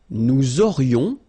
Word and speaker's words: aurions: Nous aurions, liaison here, this little link. Nous aurions, final S not pronounced.